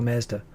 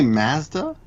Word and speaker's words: Mazda: Do you say Mazda? Mazda, yeah. Oh, really? We say Mazda. Mazda's probably the better Japanese pronunciation. Japanese say Matsuda, right?